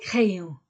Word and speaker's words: crayons: d devient les les crayons les crayons avec S le crayon sans s le crayon sans s les crayons pluriels avec S et je ne prononce pas le S et ici je ne